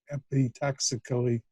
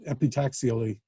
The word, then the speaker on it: epitaxially: does it electrically epitax epi toxically probably more yeah there's syllable more in there than i needed um epitaxially yeah that's it um yeah so so